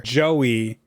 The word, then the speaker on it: Joey: Joey rhymes with Doby and Maddie and Kiki.